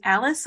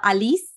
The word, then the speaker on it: Alice: your name Alice or Elise because I've heard it both ways on your show both both are um both are good it doesn't what do you prefer well Alice is Romanian pronunciation Alice yes I'm sorry to